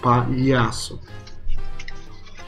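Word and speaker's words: palhaço: say the pa, and then you start the LH. So you go pa-yasso. Pa-yasso. Yeah, something like that. The biggest issue is, especially with English, is that you normally drag the sound from one syllable to the other. But it doesn't happen with this one.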